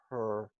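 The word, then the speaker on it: 合: You can also look at her kai and her condensing and then splitting something apart. Her, spelled H-E and pronounced like H-E-R, is condensing, letting things gather.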